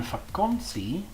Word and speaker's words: vakantie: The letter T, like in tafel, is just like the T in English, but in vakantie, it has a TS sound.